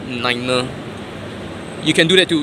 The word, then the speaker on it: niner: be pronounced as fiver, niner. You can do that too. You can add R behind 5 and R behind 9, so it becomes fiver, niner.